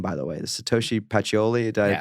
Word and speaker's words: Pacioli: in the name by the way the Satoshi pachioli did I pronounce that correct correct yeah what's in the